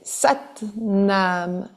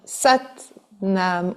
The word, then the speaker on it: Sat Nam: Vous allez avoir deux syllabes à mentionner. C'est Sat nam. Sat nam.